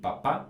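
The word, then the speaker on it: papà: And careful here because it's il papa with an accent on the last A, but it's la mamma.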